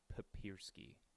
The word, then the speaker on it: Papiersky: uh papiersky or I've had no idea Michael papersky that's how you say it yeah apologies he